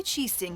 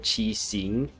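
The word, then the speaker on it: Qixing: the people yeah and that's another word qi sing they pray like ninguang here pronounce it chi sing which is a very i guess english pronunciation with the ing but it's and uh yeah all these little nuances i guess don't really translate over from english to chinese or chinese to english we have taken charge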